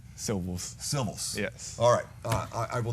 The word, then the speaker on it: Silvels: one at a time the winner is Dominique silvus tilith's Patrick Henry with 40 Percival's excuse me civils fro for these dual kick returns Dominique Seville's with the civils for the record the name is pronounced syllables symbols yes alright I will never get it